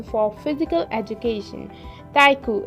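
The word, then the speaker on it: 体育: to write physical education so it's written as taiku taiku taiku is the pronunciation the correct pronunciation for physical education taiku it's a kanji and it's really easy you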